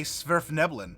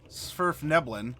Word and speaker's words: Svirfneblin: Or a Svirfneblin, if you want to pronounce it that way.